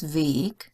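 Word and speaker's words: Weg: the three-letter W because if it means the path and it's just a word on its own it's vague but if it's a prefix it's ve and um you can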